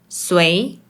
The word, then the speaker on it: 誰: In Malaysian Mandarin, It’s often pronounced as “sui2” Now let’s move on to the common words they use in daily life.